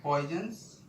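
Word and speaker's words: Poisson's: पॉइजन्स ratio, अगला है पॉइजन्स ratio, PO spelling क्या है, POISSO'S, इसे बोलते हैं पॉइजन्स रेशियो सिग्मा, ठीक है।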